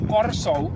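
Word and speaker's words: Curaçao: case uh Curacao has an art which we pronounce rolling or like and it's Corso so actually the two Oaks should have the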